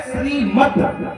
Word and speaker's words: श्रीमद्: इसी तरह से यहां दा साइलेंट है। यहां शुद्ध शब्द है श्रीमद।